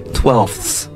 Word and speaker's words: twelfths: 个辅音 Right, the TH is very soft and it reminds me of my favorite word for a Chinese person to say Can I hear you say twelfths?